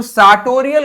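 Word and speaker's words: sartorial: सार्टोरियल मतलब क्या हो गया, इसको हम बोलेंगे, आर हो जाएगा साइलेंट हमारा, इसको बोलेंगे सार्टोरियल।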